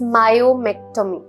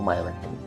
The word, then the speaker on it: myomectomy: सर एक term है, अभी शायद मैं गलत प्रोनाउंस करूंगी बट I will try, इट्स मायोमेक्टोमी, right?